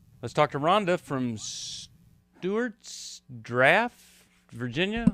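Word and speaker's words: Stuarts Draft: talk to Rhonda from Stewarts Draft Virginia how do how do you say that that's right it's steart draft okay well hey thanks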